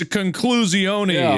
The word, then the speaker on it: conclusione: It's conclusione is actually literally how you say it in Italian. I'm not joking. It's conclusione.